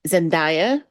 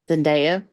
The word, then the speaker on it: Zendaya: Nabu D and Ruku Dada Nabu would be zanda Zenda I always I always want to say it